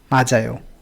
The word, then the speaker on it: 맞아요: तो ये जैसे मात्समनिदा पढ़ रहा है, इसको त आ रहा है इसका साउंड, लेकिन अगर इसकी जगह ऐसे हो तो यहाँ पे त नहीं होगा, यहाँ पे ज होगा। पढ़िए, सुनिए इसका प्रोनाउंसिएशन, 맞아요. माजायो, राइट।